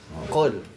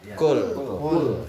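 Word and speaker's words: قل: Tapi kalau pakai qaf, qul. Berapa banyak orang bacanya pakai kaf, qul. Artinya apa kalau kaf? Makan.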